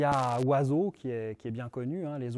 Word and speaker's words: oiseau: du Y et surtout aucune de ces lettres n'a sa valeur de base c'est à dire que le haut de oiseau ne se prononce pas oh le I de oiseau pareil le S se prononce le X9 prononce pas